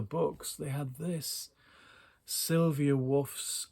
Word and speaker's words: Waugh: And amongst the books, they had this Sylvia Wharf's, I think it's Wharf or Wharf. It's not War. It's spelt the same as Evelyn Waugh, but it's not pronounced the same. That's my understanding.